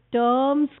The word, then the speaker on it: Sturm: This bundle of rays is called Sturm's conoid. Please remember, it does not rhyme with drum. It is not strum. It is Sturm.